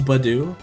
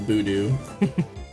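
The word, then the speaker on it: Budew: Because it's supposed to be like bud and do, right? So it's Badoo. I think for a long portion of my childhood, I pronounced it Boodoo.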